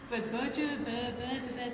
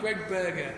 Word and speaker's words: Berger: Birger Grimlock is on Facebook. He was lovely. He was, yeah. It'd be even better if we pronounce his name right. Greg Berger.